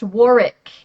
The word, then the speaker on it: Warwick: Apparently, a lot of people, especially in say more British Englishspeaking parts of the world, feel that it should be pronounced Warick.